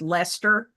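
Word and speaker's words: Leicester: forth, I mean like the way the city that's spelled L E I C Ser is pronounced Lester, you know, so and Gloucester and so on.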